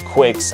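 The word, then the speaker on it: Qix: Yes, it is Quicks. I thought it was Kicks too, if you thought that. But I looked it up, and the Japanese, the way they spell it out, it actually is Quicks. Why? Q-U-I-X? Or that would make sense, but it's just Q-I-X.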